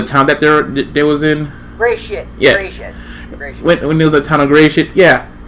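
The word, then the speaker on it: Gresit: And it was cool, like how the angry mob of how you pronounce that town name again? Gilshit. Angry mob. No, the town that they was in. Gray shit.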